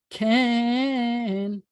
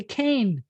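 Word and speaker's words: כן: Can means yes, can. And here's one. I learned to say cane. That's how I learned how to say yes. Any Israeli is not going to say cane.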